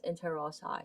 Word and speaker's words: interossei: to be talking about the dorsal intel ross eye or interossei um depending on how you pronounce it i i i pronounce it as interozai so dorsal interossei meaning